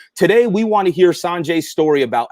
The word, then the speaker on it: Sanjay: Sanjay. Most people say Sanjay, but it's San.